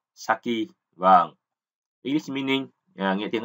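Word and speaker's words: 先: Thế âm ông Yomi của chữ tiên thì chúng ta là sen, và âm cưng thì chúng ta đọc là saki.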